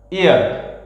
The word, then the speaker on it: heir: পরে দেখো, হি is dash এয়ার dash a huge property, HEIR, pronunciation কিন্তু হেয়ার না, এয়ার, ঠিক আছে?